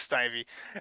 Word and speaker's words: Snivy: Okay, it is Snivy.